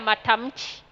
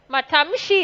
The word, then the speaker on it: matamshi: wako na shida ya matamchi. Matamshi is called matamchi. Shi na chi.